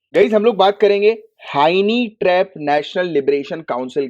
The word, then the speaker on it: Hynniewtrep: Honey trap नहीं, हाइनी trap. मैं spelling बोलूं तो स्पेलिंग बोल देता हूं, HYNNIEWTREP, हाइनी ट्रैप, राइट।